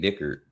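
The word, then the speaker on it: Dickert: That how you pronounce it? Yeah, that's what his name Jake Dickard.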